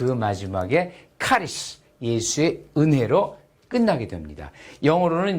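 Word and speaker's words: χάρις: CHARIS. 이거 크로 발음하시면 돼요. 카리스.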